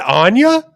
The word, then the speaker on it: Anya: It's not Anya? Yeah, they said Anya like twice, and I was like, "What are we doing? What is that?" No, that's wrong. It's Anya.